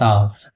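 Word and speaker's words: hour: Next हमारा she waited for dash आवर। फिर हम देखेंगे कि यहां पे हमारा क्या है? एच साइलेंट है जिसके कारण से हम एन का प्रयोग करेंगे।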